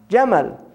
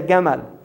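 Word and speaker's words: جمل: Jamal, right? Camel is from Jamal, because the Egyptians say Gamal. They pronounce the jim Gamal.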